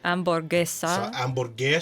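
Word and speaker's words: hamburguesa: amoressa yes amesa uh H sounds are silent ah uh so amb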